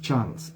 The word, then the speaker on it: Charles: pronuncia por eso es charles no charles claro y español decimos charles pero no nuestra es charles porque la e en charles no se pronuncia lo que hay es